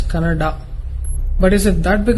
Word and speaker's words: Kannada: Once I saw a video where people were fighting whether it's Kannada or Kannada. People from North India should understand that it is pronounced as Kannada.